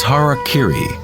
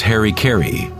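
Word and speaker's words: 腹切り: one form of ritual suicide or seppuku was harak Kiri was often mispronounced as Harry KY it means to impale one's Hara thereby cutting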